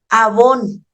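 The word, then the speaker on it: עָוֹן: en generación de hecho la palabra iniquidad en hebreo es avón no piens en ninguna marca avón y se escribe igual que la marca de maquillaje que ustedes usan y sabe qué significa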